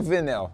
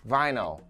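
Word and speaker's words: vinyl: que se pronuncia a palavra provavelmente você falou venel certo mas não a pronúncia correta é vai não a irlanda vai não aí vai não eu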